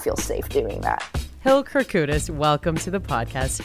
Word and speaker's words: Kourkoutis: the Juno's red carpet everybody gets so freaked out about it it's phonetic system your background is Greek